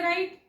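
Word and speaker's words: write: wrong शब्द म्हणतो याच्यामध्ये राईट डब्ल आरटी राईट म्हणजे लिहिणे यात आपण डब्ल चा उच्चारच करत नाही रंग म्हणतो आपण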